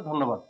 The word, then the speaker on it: ধন্যবাদ: এই নটা দুইবার হবে ধন্যবাদ ধন্যবাদ ধন্যবাদ সঠিক উচ্চারণ হচ্ছে ধন্যবাদ ওকে এবার আসি স্মৃতি স্মৃতি এখানে সয় ম